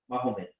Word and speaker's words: Mahomet: So he spelled like that. That's why I'm pronouncing according to the spelling. Mahomet, Life of Mahomet or Muhammad.